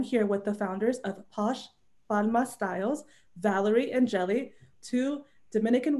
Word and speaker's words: Posh Palma Styles: So the name of the business is Posh Palma Styles, which thank you so much for pronouncing it the way that it was.